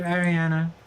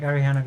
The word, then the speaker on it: Ariana: to switch it to Ariana then you can say like oh it's pronounced like Ariana Grandy and then people don't